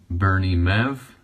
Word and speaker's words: Bernie Mev: And I will also be adding these Bernie Mev.